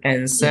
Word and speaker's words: answer: telepon, berarti she didn't answer. Yes, alright. So the word menjawab itu kan ada w-nya, but we don't read the word w di situ. Bacanya jadi answer. Answer. W-nya itu hilang. W-nya nggak dibaca.